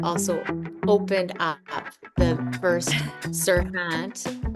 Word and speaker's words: Serhant: Ryan Serhant, but also opened up the first Serhant, right?